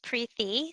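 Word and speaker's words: Preethi: then pre-t hi so my first name is pronounced pre-thee the t is pronounced like a th sound and my last name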